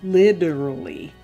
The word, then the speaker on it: literally: a hard D, so it's not like literally. No, literally. But you sound totally like an upper class Brit if you pronounce it correctly and say literally. Literally is the way the British. Literally. So somewhere in between the T and the D, and it's one of those in between sounds that it's like a